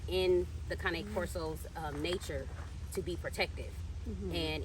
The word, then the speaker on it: Cane Corso: Pronounced Cane Corso. Yep, not Cane, y'all, not Cane.